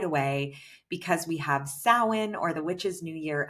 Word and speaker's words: Samhain: It is spelled Samhain, but it is pronounced Samhain.